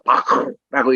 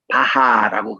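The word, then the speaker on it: Bach: 이분의 이름을 바크라고 그래요. 그래서 모든 사람의 이름은 그 나라의 이름 그대로 불러주는 게 맞거든요. 그래서 요한에서 바크라고 이렇게 불러줘야 됩니다. 그런데 이거를 우리 한국에서는 바하라고 그렇게 발음하고 또 이제 이 미국권에서는 이거를 이제 바크라는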